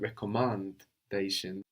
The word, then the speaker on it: recommandation: Recommendation in French is slightly different. We get a slight change. We don't have recommendation but recommandation, like to recommand rather than to recommend.